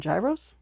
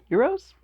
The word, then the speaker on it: gyros: It's spelled Gyros. We always used to call them gyros, but then we went to a Greek restaurant and they informed us that it's pronounced euros.